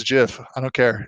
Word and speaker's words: GIF: referencing collab land on hey hey it's it's Jiff I don't care it's Jiff uh anything like that stoke the controversy exactly